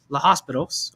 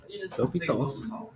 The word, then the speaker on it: L'Hôpital: It looks like it's spelled La Hospitals, okay? But it's La You Hopitals. don't pronounce an H in L'Hôpitals.